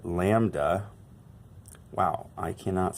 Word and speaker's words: lambda: this one down here, lambda. So that is the Greek letter lambda. Wow, I cannot spell. L-A-M-B-D-A is sort of how we pronounce that, lambda.